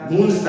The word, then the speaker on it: गूंज: भंवरे गुनगुन करता है, बाग बगीचों में भंवरा क्या करता है, गुनगुन गुनगुन करता है, गूंजता है, उसकी आवाज गूंजती है।